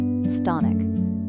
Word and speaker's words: chthonic: There's actually a perfect word for this: chthonic. It's pronounced thonic.